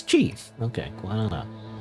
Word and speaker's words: qi: According to AI, it's Chi.